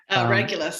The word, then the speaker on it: Regulus: So I guess would it be Regulus? Is that how you say it? Regulus.